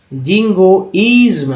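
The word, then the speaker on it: jingoism: Last में भी सर जोड़ लीजिए, जिंगोइज्म, ISM को इज्म बोलते हैं, लग गया इसमें, जिंगोइज्म।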